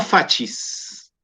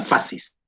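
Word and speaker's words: fasces: Nosotros en castellano la C la pronunciamos como S, ¿cierto? Si se combina con una I, suena fascis. En italiano la C suena siempre como CH, por lo tanto se habla de fascis.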